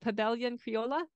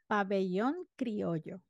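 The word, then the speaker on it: Pabellón Criollo: You can tell me how to pronounce it. Pabellon Criolla? Pabellon Criollo.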